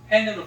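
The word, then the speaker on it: חן: hen.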